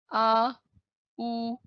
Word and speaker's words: Audi: The pronunciation of this brand is Audi.